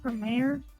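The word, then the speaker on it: Gramarye: Also, this is, you're actually mispronouncing the last name wrong. It's actually, apparently it's pronounced Grammaire. Grammaire?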